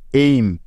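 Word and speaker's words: aim: যেমন দেখুন, আমাদের প্রথম উদাহরণটি হল এ আই এম, এইম, এইম। তাহলে চলুন দেখি এই শব্দটার উচ্চারণটা এমন কেন হচ্ছে। তো দেখুন, এই শব্দের প্রথমেই আছে এ আই, আর আমরা একটু আগেই শিখেছি যে এ এবং আই এই ভাওয়াল দুটি মিলে সবসময় এই এমন একটি সাউন্ড দিবে, তাই না?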